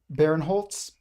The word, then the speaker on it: Barenholtz: of Elan Barenholtz, I think is how you pronounce his last name. This is it. Barenholtz.